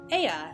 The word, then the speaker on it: Ea: When the vibration of local vocal folds was still required to convey our thoughts and intentions, Aya, I believe, was the pronunciation used which referring to our people.